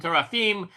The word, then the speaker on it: teraphim: Hebrew has no vowel sound, so doctor's pronunciation is equally correct to mine. We guess when it comes to the Nekuda. The vowels, okay? I say teraphim because that's the way I learned it, but teraphim is equally valid.